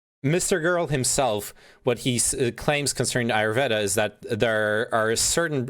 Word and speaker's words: Ayurveda: You know about the how do you pronounce Ayurveda or whatever? Ayurveda.